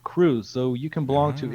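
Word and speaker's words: Krewe: professional guide Rooney bosin who owns the wandering crew tour company I've had a uh Onan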